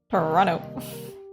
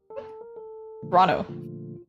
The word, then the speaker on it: Toronto: They don't pronounce the second T. 20 Toronto Toronto.